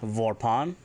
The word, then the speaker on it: vorpan: If you want to say green, it's Vorpan, Vorpan, green, V-O-R-P-A-N.